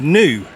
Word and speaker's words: NIU: this is called a new and I know it doesn't look like it's spelled new but apparently that's how you pronounce it and this is the